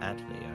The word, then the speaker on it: atelier: Where is the R? It's French. It's silent.